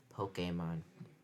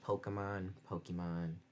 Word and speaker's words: Pokémon: the title was used, with an acute accent over the E to aid in pronunciation. So it's actually pronounced Pokemon, but people say Pokemon, so it doesn't really matter too much.